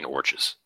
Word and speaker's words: orcs: Orches. Oh, I didn't know what you were talking about. Yeah. The orcs don't exist. Rhymes with torch.